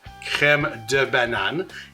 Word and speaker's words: crème de banane: So crème de menthe, crème de banane. I'm not mispronouncing it.